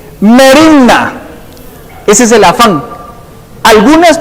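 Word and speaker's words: μέριμνα: En griego no se las puedo pronunciar, porque saber cómo se pronuncia, pero más o menos así: merimna.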